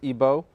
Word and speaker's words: Igbo: He's studying at the Florida International University, but he comes from Nigeria, from the Igbo tribe, otherwise pronounced Igbo.